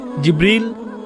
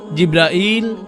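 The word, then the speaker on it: جبريل: জিব্রীল, জিব্রাইল, জিব্রাইল, জিব্রাইল, জিব্রীল। এই পাঁচ ভাবে তার নাম উচ্চারণ করা হয়।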